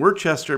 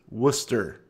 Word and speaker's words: Worcester: mentioned Deerfield New Hampshire is terrifyingly close and we're Chester Massachusetts is pronounced Worcester Worcester Mass where's the mass so there is